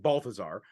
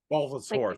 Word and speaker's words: Bulbasaur: If I were to throw out Balthazar, or Bulbasaur, sorry, I say it wrong all the time. People give me shit. Bulbasaur. Bulbasaur, thank you. Like dinosaur.